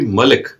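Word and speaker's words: مالك: is malik i believe so the the correct pronunciation would be malik so malik is something was the owner is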